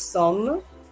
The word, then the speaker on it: sommes: Nous sommes, excusez-moi, I know that looks very long, but it's pronounced like the English word S-U-M, some.